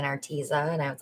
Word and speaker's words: Arteza: started my channel i was an affiliate for arteza but everybody was saying arteza and i was like no it's arteza but